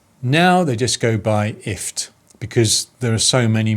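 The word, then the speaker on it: IFTTT: i talked about was ift it's basically gift without the g so it's pronounced if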